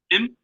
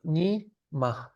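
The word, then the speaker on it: ཉི་མ: ni ma Ni ma. Okay. because it's two syllables. If this dot wasn't in between, it would be nim.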